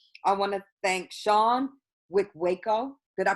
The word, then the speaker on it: Wikweko: I want to thank Sean Wickwako. Did I pronounce it correctly? Yes, Wickwako.